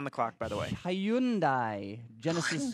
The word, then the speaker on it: Hyundai: clock by the way Hyundai Genesis C no Hyundai rhymes with Sunday does it that's just